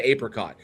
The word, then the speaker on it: apricot: We're both from the Midwest. So, we'll say we'll we'll say uh we'll say apricot or apricot. We'll say apricot. Some places say apricot. They do the long a on it.